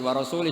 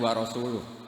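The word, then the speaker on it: وَرَسُولُهُ: Allah itu terbebas, gak urusan dengan orang musyrik, wa rasulih juga gak ngurus Rasulnya. Kalau sama Rasul saja tidak ngurus, apalagi sama kita. Sama Sayyidina Ali dibenarkan, yang benar bacanya itu wa rasuluh.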